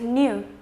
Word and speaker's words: knew: The fourth word that we have is knew. That is the past of know. I know something and then I knew something. Then again, it will be pronounced without a K.